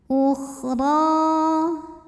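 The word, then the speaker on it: أُخْرَى: thifatun ukhro kemudian huruf Dho dibunyikan secara tafkhim karena ro berbaris di atas maka dibacanya tebal ya pangkal lidah naikan ukhro ro ini huruf madnya adalah Mad Thobi'i muqaddar karena ada baris fathah tegak di atas huruf ro maka dipanjangkan rnya dua harakat ukhro lam lam ada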